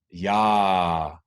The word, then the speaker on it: jeg er: it's often just it's we have the same phenomena in them Danish so yaaaa meaning I am yah pulled together one syllable and you go a little bit up with intonation and you can repeat